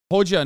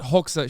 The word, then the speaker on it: Hoxha: Hoja, not Hoxha.